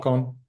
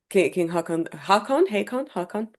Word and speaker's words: Håkon: Håkon? Yeah, King Haakon. Yeah, okay. Yeah, Håkon, yeah. Haakon. That's how I know how to spell it. So Yeah, H A long A K O N, yeah. yes. Håkon in Old Norse.